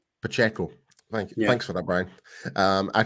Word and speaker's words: Pacheco: Piaccio? Pacheco. Thanks for that, Brian. I can never pronounce that guy's name right, so I do apologize if he ever hears this.